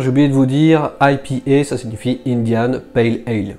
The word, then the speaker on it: IPA: D'ailleurs, les bières qui sont dites IPA, bon ça c'est la prononciation française, sinon c'est IPA, eh bien elles sont très à la mode en ce moment et elles sont également très houblonnées.